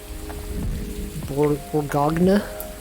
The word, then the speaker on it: Bourgogne: Bourgogne. That's how you pronounce it.